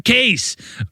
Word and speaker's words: Cayce: I mean, it looks like I thought it was Case. Case. It looks like Case. I saw too. people written it out as Casey. They're like, this it's is Casey.